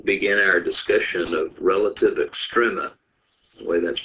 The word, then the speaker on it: extrema: we're going to begin our discussion of relative extrema the way that's pronounced and uh it's called extrema because we're